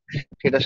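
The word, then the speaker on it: Synge: তাই না মানে অ্যারিস্টোটল যে ট্রাজিক হিরো বলছে সেটার সাথে কোন দিক থেকেই কি মরিয়াম ম্যাচ করে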